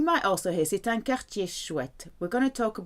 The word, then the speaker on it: quartier: A neighbourhood is quartier. Remember, QU is a K sound. So whenever you see Q, replace it with a K for the right pronunciation.